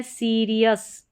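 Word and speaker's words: serious: अगर आप सीखना चाहे तो स्पेलिंग रूल वाली क्लास में जाकर देख सकते हैं जी के उच्चारण भी। फिर यहां है सीरियस।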